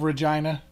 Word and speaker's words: Regina: well Saskatoon you have Regina the city that rhymes with fun um what uh what